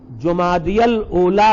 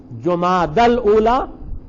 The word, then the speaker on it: جمادی الاولیٰ: کے نام بھی ہے، اور اردو میں انہیں جمادی الاولیٰ اور جمادی الثانیہ، جمادی الاولیٰ اور جمادی الثانیہ کہا جاتا ہے، لیکن صحیح تلفظ ہے جماد الاولیٰ اور جماد الثانیہ.